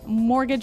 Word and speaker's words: mortgage: I mean, there's this strange mortgage with a T. Yeah, it has a T in it, but you don't pronounce it.